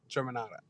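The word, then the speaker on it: Germanotta: Okay, you get an extra point for that, Let me pronounce motherfucker. it for you correctly. It's Stephanie, Angelina, Joanne, Germanata.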